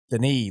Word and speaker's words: Denis: news there so uh dennis villain wave i still don't know if that's how you pronounce it but i'mma roll with it um denis that's right not dennis dennis